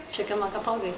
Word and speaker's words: Chickamauga: Chickamauga.